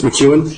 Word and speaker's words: McKeon: Can I just pronounce the name again? It's McKeon? Yes.